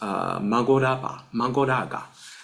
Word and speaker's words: Mahoraga: And Kinnara, I think we pronounce as a Kinnara as well. Mahoraga is Magoraga.